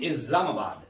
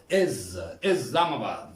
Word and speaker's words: Islamabad: Islamabad, we pronounce S with seen, but Britishers and Americans, they pronounce it Islamabad. Islamabad.